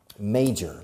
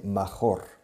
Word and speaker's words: major: Now, major, la pronunciación, major, se escribe major, pero se pronuncia may, como el mes de mayo en inglés, major.